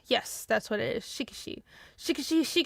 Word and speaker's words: Shikishi: Shikishi. Yes, that's what it is. Shikishi. I think it's Shikishi, but the way I hear Japanese speakers pronounce it is shikishi.